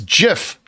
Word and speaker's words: GIF: into gif and then i'm like it's jif it's not jif though it is